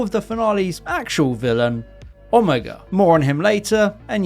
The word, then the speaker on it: Omega: Seeing the reveal of the finale's actual villain, Omega. More on him later. And yes, that's actually how you pronounce his name based on how it's said in his very first story all the way back in 1973.